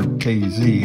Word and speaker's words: Casey: the insight to bring Casey, or KZ as locals pronounce it, back to life in